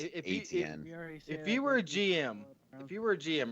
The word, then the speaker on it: Etienne: pronounced If ATN.